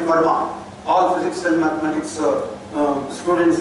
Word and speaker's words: Fermat: In the 17th century, there was a great French mathematician by name Fermat. All physics and mathematics students and teachers will have heard of. Fermat, often physics people pronounce it as Fermat.